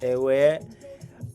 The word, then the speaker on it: Airware: Just in case you are new here, it's pronounced aware.